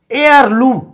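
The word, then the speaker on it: heirloom: अब यहां एयरलूम, एयरलूम का अर्थ होता है विरासत। विरासत के बारे में सभी जानते हैं बच्चे, लेकिन इसका उच्चारण क्या हो रहा है, एयरलूम, अ से औ तक में हो रहा है।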